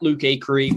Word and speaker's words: Acree: i'm on social at luke akery my last name is spelled a-c-r-e-e so think acre with an extra e so at luke acre you can find me